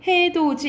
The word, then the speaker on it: 해돋이: 이거 생각하시면 돼요 봐봐 우리 이거 해돋이라고 대답 발음 안 하죠 어떻게 발음해 해도 이렇게 되죠 자연스럽게 이거 같이 가자 이상하잖아 자연스럽게 돼 같이 이렇게 되죠 그렇죠 그래서 여기서 봤을 때 해도지 이거는 명사를 만들어 주는